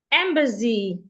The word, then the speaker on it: embassy: Accidents embassy. Embassy or embassy? I think it's embassy. The S remains a S.